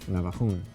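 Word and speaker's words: Navajún: So these are from Navajun. Navajun. Is there an accent on the U at the end? Yes. Navajun.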